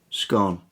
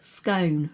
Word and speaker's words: scone: Scone. See, I knew this was going to happen. It's scone, rhymes with stone. Nope. It's scone. Rhymes with gone.